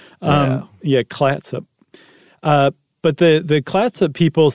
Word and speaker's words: Clatsop: And Fort Clatsop? That's what I thought too, but it's close. There's an L in there. Clatsop.